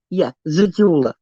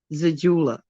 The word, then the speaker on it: Zejula: of the pill is called Zejula, and it's pronounced Zejula. It's spelled Z as in zebra, E as in egg, J as in jelly, U as in up, L as in lip, A is an apple, Zejula.